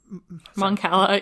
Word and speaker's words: Mon Cala: The other race on Naboo, like on Mon Calamar, how are you pronounce it? Mon Cala, yeah, no, super confusing.